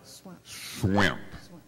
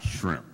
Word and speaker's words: Swimp: Swimp. Swimp. Not shrimp, but swimp.